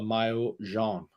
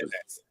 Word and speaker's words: maillot jaune: French, it's called the maillot jaune. Yeah. Still doesn't pronounce it properly. Mayonnaise. The what? That's right. I heard mayonnaise. Mayonnaise. Maillot jaune. Maillot. Yeah, not mayo.